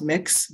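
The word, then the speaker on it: Mx: you all can see it's just pronounced mix mix layout and i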